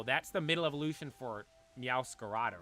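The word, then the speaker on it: Meowscarada: I'm like oh yeah Meara not meow scarda there's an extra a back there a dude I kind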